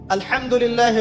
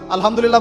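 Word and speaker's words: الحمد لله: আছেন আলহামদুলিল্লাহ ভালো আছি তো আলহামদুলিল্লাহ না বলে সে বলেছে আলহামদুলিল্লাহ ওই যে হা এর উচ্চারণ পরিবর্তন হয়ে গেছে এই কারণে অর্থ পরিবর্তন হয়ে দাঁড়াবে যে সমস্ত নিন্দা আল্লাহর জন্যে যিনি জগৎসমূহের রব আমার কথা কি বুঝতে পারছেন শুধু হা এর মাখরাজ ভুল হওয়ার কারণে এই সমস্যা হলো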